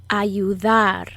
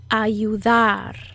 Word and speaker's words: ayudar: to help in spanish ayudar ayudar to help in spanish is ayudar repeat ayudar ayudar notice where i put the subtle emphasis in which part of the word i emphasize ayudar try to